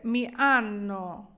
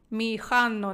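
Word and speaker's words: mi hanno: Міанно, рубато, туто, не ханно, ось це х. Багато хто вже з вас знає, не вимовляється, а є ще ті, хто не знає, то кажу. Міханно неправильно говорити.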